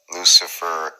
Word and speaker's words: luciferase: And with the word itself, Luciferase, because that is the correct pronunciation. Confirm that. Luciferase, like ace.